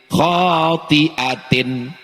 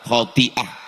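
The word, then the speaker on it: خاطئة: Nasiyatin kazibatin khotiatin. Ustaz, cara bacanya salah Pak Ustaz. Khotiah.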